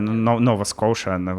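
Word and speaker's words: Nova Scotia: в Канаду в провинцию Нова Коши и они или Нова скотия Да ну звучит как-то по-сербски Ну да Ну ну Нова Ну не знаю Нова скоша как они так наверное произносят новая Шотландия О'кей давайте так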